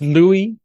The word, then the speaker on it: Louis: yeah I guess he's thinking hello uis but pronounced Louie Louie is that he is acceptable and now